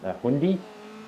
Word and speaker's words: Hyundai: I think it's like Hyundai, but everyone in America just says Hyundai. It is Hyundai. We put more, we throw more syllables in just for the lols rather than shorten it to a two-syllable word.